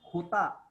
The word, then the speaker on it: jota: J is pronounced as khota. Jota. Khota.